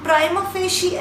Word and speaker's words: prima facie: The next word is seventh word is PRIMAFACIE, and we pronounce it like prima facie.